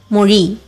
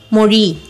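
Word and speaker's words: மொழி: So it should be pronounced as Tamil. Our second word is Mori, which means language.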